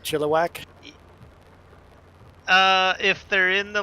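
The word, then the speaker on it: Chilliwack: get a lot of chili whack you're saying it wrong too like like you get do you get asked that often if you live in chiliwack instead of chillak uh if they're in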